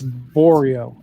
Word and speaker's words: Borio: It's Borio. Which Oreo. Rhymes with Oreo.